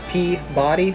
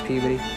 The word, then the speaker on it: Peabody: five we've got peabody looks like it's pronounced p body but now if you're from there you know it's puberty at number four we've